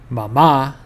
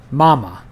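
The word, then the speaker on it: mamá: This is why this word is pronounced mama and not mama. Mama has emphasis on the final a.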